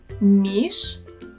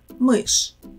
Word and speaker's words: мышь: Мышь, миш, or мышь. The correct answer is мышь.